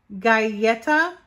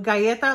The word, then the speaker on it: Galleta: dollars and it's pronounced guyetta so guyeta like a cookie so it's galleta and it's a Spanish word for cookie this palette contains a